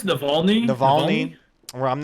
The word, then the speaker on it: Navalny: led a very more Mulvaney, right? Wait, am I saying it right? What is it? No, Navalny. I think it's Navalny.